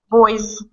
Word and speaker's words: boys: got that how about key key z z sound keys boy boys boys guy guy guys guys okay there you go all of the oi i e a these are all dip thong sounds so it doesn't really matter but anyway they're all voiced that's all that matters when it comes to pronouncing the S they're all voice sounds they're all going to have Z pronunciation key doie uh okay